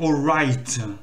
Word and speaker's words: alright: Je dis alright, mais normalement c'est alright. Donc, il faut surtout pas prononcer le GH.